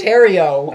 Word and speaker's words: Theriault: You say it right. It's Theriault. It's Terrio.